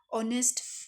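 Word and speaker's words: honest: फिर six point है, every वन respects dash ऑनेस्ट person. तो यहाँ पे आप लोग बताओ क्या आएगा? यहाँ पे ना एच साइलेंट है, एच क्या है यहाँ पे? साइलेंट है, तो यहाँ पे एन आ जाएगा।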